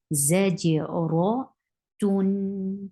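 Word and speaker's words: زاجرة: How will you stop with your circled ta? You will exchange it into ha. Zajira.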